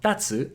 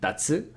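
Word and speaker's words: たつ: Now, here, it also means kite, and it's pronounced exactly the same way, taco, because sometimes the stress will change. So for example, we saw tatsu and tatsu.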